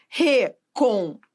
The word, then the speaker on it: recompor: Então, veja, recompor, recompor. Veja, o por é a sílaba tônica. Por que é a sílaba tônica? Porque é a sílaba que manda na palavra.